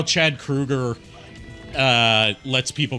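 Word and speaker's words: Kroeger: it's like how Chad Krueger uh lets people call him Chad Kroger because he didn't tell anyone that his name's actually pronounced Krueger until a few years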